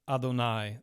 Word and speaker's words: Adonai: here the long a which suggests that we are to read Adonai the word for Lord and this attests